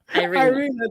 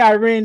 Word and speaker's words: Iryna: Iryna, thank you. I keep wanting to say, I was going to say Irene. I'm like, no, it's not Irene. It's something else.